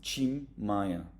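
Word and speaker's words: Tim Maia: and the the T if the t is followed by an i it will always become a chi cholu or the famous singer you will pronounce him Chim Maya but if the t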